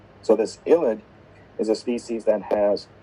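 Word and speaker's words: ylide: this sort of a compound is actually an illid i don't know where the spelling came up from but it's pronounced illid not not yield so this ilit is a species that has a negative and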